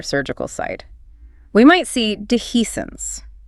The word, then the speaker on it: dehiscence: We might see dehiscence. This is a tricky one to spell and say. Pronounced d he s ence.